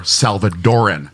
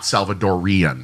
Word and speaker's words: Salvadoran: about your pronunciation Yes, it's El Salvadoran or Salvadoran, not Salvadorian.